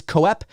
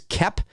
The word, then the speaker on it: Koepp: directed by David Koepp I think that's how you pronounce his last name I don't think it's co-op I think it's kept if I'm not mistaken now David Koepp is